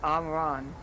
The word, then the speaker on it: Amran: like mispronouncing it myself, Amaran, Ahmran. The people that live here are the mayors, or like the mayors. Ron. Oh, sorry, Mika will. Soft days. Aram. Yeah, okay, it's Amran.